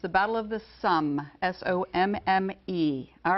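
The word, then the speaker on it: Somme: dylan battle of the sane it wasn't a pronunciation problem it's the battle of the sum s-o-m-m-e all right humanities is the next category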